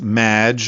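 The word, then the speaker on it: Claude Maginot: the show thanks Amy however you have mispronounced my name it's Madge which rhymes with badge uh as in duh and no as in more than you Maggiano anyway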